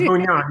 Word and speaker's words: Bugnon: we pronounce him as Alex Bugnan here for some reason in the Yeah, Alex Bugnon.